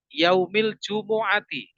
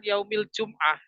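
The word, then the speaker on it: يوم الجمعة: itu saya sering mendengar Harusnya kan Min Yaumil jumuati bukan Yaumil jumah hati-hati bagi kita yang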